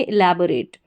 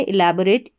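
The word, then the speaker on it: elaborate: यहां पर जो ओ है इसका उच्चारण अ हो रहा है।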